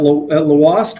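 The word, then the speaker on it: Lhoist: It's Belgium owned, so it's got kind of a different accent or a different pronunciation, right, than Yeah. normal Thank U.S. you for correcting us. Yeah, yeah. Normal English language, it would be Lawast, but it's Lawast with Oh. the pronunciation of the European.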